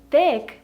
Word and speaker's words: thick: Just because in Russian we don't really have this sound, like thick. It was really hard for me at the beginning to learn how to pronounce this word correctly as a native Russian speaker.